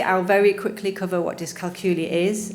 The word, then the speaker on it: dyscalculia: It's pronounced as dyscalculia.